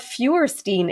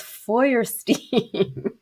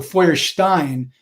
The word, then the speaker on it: Feuerstein: Stephen's last name, because it's not Feuerstein, it's Feuerstein. Right, and in fact, that's not even the correct pronunciation in German. So Feuerstein is how you say my name in German.